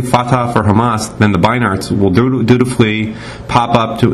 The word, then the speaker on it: Beinart: for Hamas, then the Beinarts will dutifully pop up to introduce us to the newly peaceful Hamas and the same old intractable Israel. I think it's Beinart, by the way. I've been mispronouncing it.